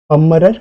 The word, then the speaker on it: Pummerer: Okay, वापस से pronounce करता हूँ, पमरर रीअरेंजमेंट।